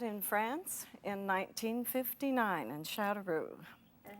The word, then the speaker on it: Châteauroux: We met in France in 1959 in Châteauroux.